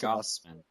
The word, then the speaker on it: Gausman: Gausman.